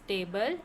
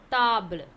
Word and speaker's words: table: You have the same spelling like table, but the pronunciation will be different. How to pronounce? In English it's table, in French it is table.